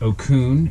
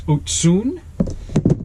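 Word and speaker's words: Ocún: was a rep and ask them how to pronounce it it's not Okun it's otun um these are the otun sigmas they just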